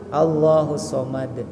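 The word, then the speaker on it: اللَّهُ الصَّمَدُ: Suka ada yang baca Allahus somad, Allahus somad, padahal Allahus tasdidkan ya.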